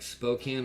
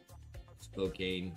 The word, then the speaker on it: Spokane: Does Spokane rhyme with can or cocaine? Spokane or Spokane? So like Spokane of tuna, or Spokane is good, man?